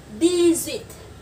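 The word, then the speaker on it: dix-huit: Còn số 18, D-zit. Đó, nối âm nhá. Cái chữ D-z có chữ giờ cuối cùng thì chúng ta sẽ nối sang là D-zit.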